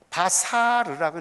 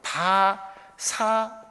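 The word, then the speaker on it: בשר: 복음이라는 단어가요, 바사르라고 읽어요. 그래서 이건 자음이 모음이에요. 바사르라고 읽어요. 요 단어는 살, 육체 이런 뜻이에요. 근데 이게 어근이 있어요. 뿌리가 있어요. 그것도 마찬가지로 바사르라고 읽는데 요거는 장모음, 단모음, 요거랑 요거 달라요. 모음이.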